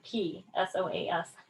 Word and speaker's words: psoas: Spelled with a P, S-O-A-S. Sounds like psoas.